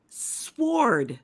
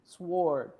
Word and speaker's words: sword: onesie Walker on Facebook sword sword the W is silent absolutely it says that I